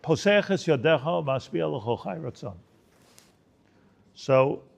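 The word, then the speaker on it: ידך: Is a yadcha is a yadecha. So it's written yadcha and it's pronounced yadecha.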